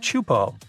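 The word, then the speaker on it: Teahupo'o: It's pronounced Chupo, and it means broken skulls in Tahesian. Yeah, you heard that right, broken skulls. The waves at Chupo are massive and can reach up to 23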